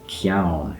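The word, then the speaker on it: ceann: the beginning, but then in Gaelic it's ciaun, has a k sound at the beginning, so you kind of P and Q.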